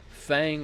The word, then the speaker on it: Feng: But as you can see on the left side, Fang or Feng, however you say her name. I'm going to say Fang because that's how everybody says it. Although I don't think that's the correct pronunciation.